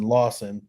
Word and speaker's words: Lawson: that's a Eric Lars Eric Lawson not Larson Lawson okay and this is a